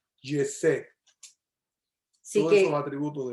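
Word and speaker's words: חסד: Yesed, esa palabra, todo eso que ella dijo se reduce en hebreo una palabra que se pronuncia Yesed.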